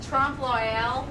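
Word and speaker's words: trompe-l'œil: to figure out how to say Trump Loyal the right way. Does anybody know how to pronounce it?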